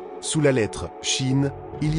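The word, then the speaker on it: שין: 21e lettre, Shin, comme S. Cette lettre peut se prononcer S comme serpent ou CH comme chat.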